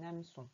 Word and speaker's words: hameçon: Alors, quand on parle vite, on dit un hameçon. On fait la liaison et on dit un hameçon, mais ça s'écrit bien hameçon. Il y a bien 3 syllabes.